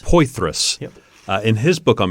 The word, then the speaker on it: Poythress: So Vern, I always mispronounce his last name. Poythress. Poythress.